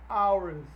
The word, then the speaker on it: hours: take less than an hours to be done. An hours, o an aí antes do hours, já que o H não é pronunciado.